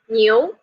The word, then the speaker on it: 牛: So I teach you I teach the Chinese character of ox, and the Chinese pronunciation of ox is 牛. Can you repeat that? 牛. New.